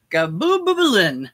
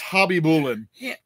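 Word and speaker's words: Khabibulin: Nikolai Gabubulin. It's pronounced Hobby Bullen.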